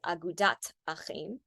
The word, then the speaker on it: Agudath Achim: If you were to pronounce it the way that we pronounce Hebrew in the synagogue today, it would be Agudat Achim without the th.